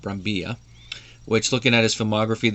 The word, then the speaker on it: Brambilla: the name is pronounced, since it's a Spanish first name and the double L, so I'm just guessing that. It could be Brambilla, but I'm going to go with Brambilla.